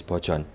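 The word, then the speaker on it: バージョン: Like, for example, the word for version is bochon, which sounds like nothing in English.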